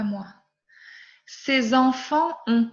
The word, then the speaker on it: enfants: Ces enfants ont 4 ans. Ces enfants, je ne prononce pas TS final. Je ne prononce pas S final.